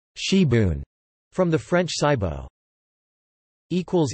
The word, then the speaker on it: sibwn: in South Wales is sabang pronounced she Boone from the French cybo